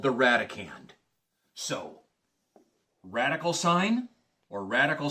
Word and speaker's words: radicand: The number that is placed underneath there is called the radicand. R-A-D-I-C-A-N-D. Kind of similar in pronunciation, so to speak, to the number that is placed underneath a long division symbol.